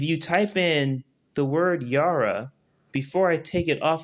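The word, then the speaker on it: Jera: The name of the rune is called Yara. is spelled J E R A.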